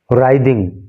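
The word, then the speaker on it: writhing: दिखा रही है वीडियो, राइदिंग, इसमें डब्लू साइलेंट होता है और इसको राइदिंग इन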